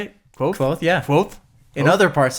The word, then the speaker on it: Kvothe: Kvothe, yeah.